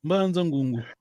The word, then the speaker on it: Mbanza Ngungu: Faut pas prononcer comme les Français. Mbanza Ngungu.